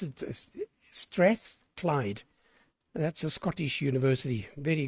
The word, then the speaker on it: Strathclyde: That's how you pronounce it, Strathclyde.